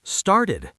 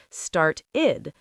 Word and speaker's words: started: Start becomes started. Yes, started, two syllables. Start-id.